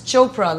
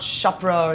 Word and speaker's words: Chopra: of your name Bianca my name starts with a p and it's Chopra like Oprah not shopra or or whatever noted what was your